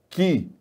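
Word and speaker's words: χ: O chi se pronuncia ki.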